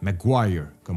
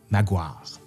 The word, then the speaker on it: Maguire: Maguire, comme on devrait le prononcer, comme la rue là, à Québec. Mais à Québec, on dit Maguire.